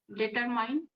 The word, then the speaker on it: determine: Um, Determine. Yes, the correction is determine. There is no Determine. mine. Is again E is silent.